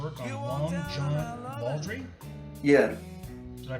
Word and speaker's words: Baldry: album for your work on a Long John Audrey yeah did I pronounce that right yeah Long John baldry uh he Long John baldry is quite a